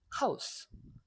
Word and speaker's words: Haus: 그 다음에 여기는 S 다음에 아무것도 안 나왔으니까 그냥 S 발음이 나죠. 그래서 1번만 Z 발음이 나고 나머지는 전부 S 발음이 난다. 전날, 쿠스, 푸스발, 하우스.